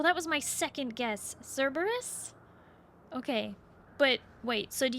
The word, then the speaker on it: Cerberus: You can pronounce it like the three-headed dog. Oh, that was my second guess. Cerberus.